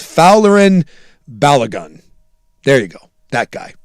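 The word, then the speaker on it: Folarin Balogun: I still can't do it, but phonetically, it's it's Fowlerin Balagun.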